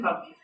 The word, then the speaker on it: Palmese: How do you say your last name? Yeah, perfect. Okay, perfect. I go with Palmese in the US.